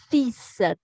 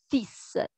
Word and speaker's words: fils: la prononciation parce que parfois les étudiants ont du mal avec la prononciation de ce mot il ya un an elle que l'on ne prononce pas et un ace que l'on prononcé donc bel et bien